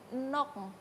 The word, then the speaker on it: nokng: Nok. nok. Iya. NOKNG kalau misalnya Iya, dituliskan. iya. Oke. Berarti bacanya nok.